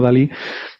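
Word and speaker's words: DALL-E: que las gracias que querían hacer que se pronunciara como dalí pero hace el juego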